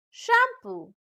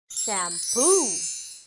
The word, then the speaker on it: shampoo: we often hear people say can i buy shampoo bot the correct pronunciation is shampoo like oh i like your hair what brand